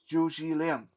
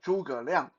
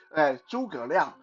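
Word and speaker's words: 诸葛亮: the Three Kingdom period was Zhu Zhiliang. Uh, in Mandarin, Zhuge Liang. So I'm just going to say his Mandarin name because every time I say his English pronunciation, my brain almost short out because it sounds so stupid.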